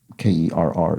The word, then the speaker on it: Kerr: throughout the puzzle so Steve Kerr is pronounced like her in the U.S not like hair in Germany um even though it looks k-e-r-r looks similar to that